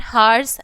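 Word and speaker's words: hour: Before a noun that begin with a silent H, ठीक, silent H, जैसे कि example में एन हार्स N honest man, ठीक है, एन हेयर एन हॉर, ठीक।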